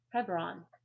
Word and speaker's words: Hebron: In most Bibles it's it's um pronounced as Hebron.